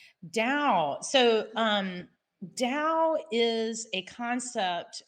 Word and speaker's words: Tao: don't know what is dao dao so um dao is a concept it's a chinese word so the t is pronounced as a d um you know and